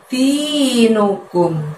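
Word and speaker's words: دينكم: Lalu ada lafadz dinukum. Di-nya panjangnya 2, nu-nya pendek, kumnya pendek.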